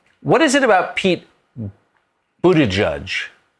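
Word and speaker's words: Buttigieg: is it about pete buddha judge in our scripts it's spelled buddha judge just you can pronounce it correctly yeah um there there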